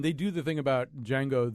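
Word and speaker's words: Django: one of you listed D Jango and chain as a great trailer but when when they do the thing about D Jango the D is silent I thought oh I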